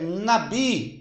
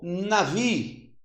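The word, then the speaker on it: נביא: Agora, no hebraico, é nabi ou navi. Pode ser tanto nabi como navi. Navi ou nabi.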